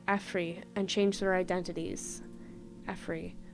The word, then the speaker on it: Efri: Efri. Pronounced Afre.